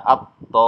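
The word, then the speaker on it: الطامة: Ya, maka cara bacanya, to-nya ini dibaca panjang 6 harokat atau 3 ayunan, kemudian baru masuk ke tasdidnya. Ya, dibaca at-tammah, ya.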